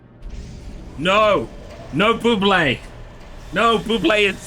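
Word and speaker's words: Bublé: and I was like there is no Accent on the E therefore I am not gonna say Buble and now you're telling me that there was meant to be one all along well you think I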